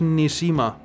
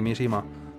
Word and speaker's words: Mishima: arreglando y más importante mi nombre no es ni sima no me había dado cuenta eso es todo lo que me estaba fijando en ti mishima que ha pronunciado tu nombre mal a